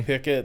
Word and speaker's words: Piquet: Back then, they pronounce it both ways, right? Do they? Yeah, okay. They do. Kelly Pickett has gone out there and say we prefer Pickett. We prefer to say Pickett.